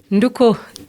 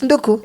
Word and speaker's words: Nduku: Who pronounce for me that word? Nduku. Nduku? Yes. It's Nduku? Yes, Nduku. No.